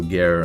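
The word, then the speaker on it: Gaer: the show I mean it's spelled Guyer g-a-e-r um so gear and and Carl the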